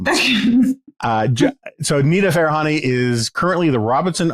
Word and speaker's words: Farahani: Farahani. Farahani, okay. Pretty much how it's spelled.